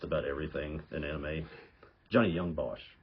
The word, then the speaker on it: Young Bosch: the way through um I I'll say his name wrong is it Johnny leebos no idea the guy that's the voice of um just about everything in anime Johnny Young Bosch right Johnny Young BOS okay yeah he was